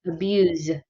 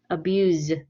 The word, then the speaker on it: abuse: a little bit different the verb sounds kind of like a z abuse abuse the noun sounds more like a s abuse so can you guys